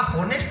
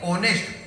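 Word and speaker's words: honest: यह सुनकर शंभू बोला होनेस्ट नहीं ऑनेस्ट, होनर नहीं ऑनर, इसमें एस साइलेंट आता है।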